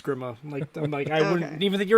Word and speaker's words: Grima: Yeah, I mean, like, in Maltese, which is my nationality, they'll say Grima, but I anglicize it. I'm always Grima.